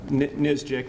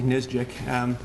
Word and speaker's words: NSGIC: states initiative that uh nisjic that's how you pronounce that nsgic nizjic that that nisjik initiated